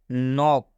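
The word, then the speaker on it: knock: होता है के साइलें यदि के के बाद एन आए तो के साइलेंट होता है इस के के बाद एन आएगा तो के साइलेंट हो जाएगा मतलब ये इसके का उच्चारण नहीं करना है इसके को नहीं पढ़ना है मतलब नॉक हम इसको के का उच्चारण नहीं कर रहे मतलब के पढ़ना ही नहीं है बात समझ में आ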